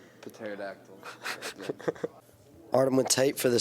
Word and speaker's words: pterodactyl: No, it's just because the P is silent. The pterodactyl.